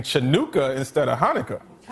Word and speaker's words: Hanukkah: Turns out it's not pronounced chanuka. It's Hanukkah.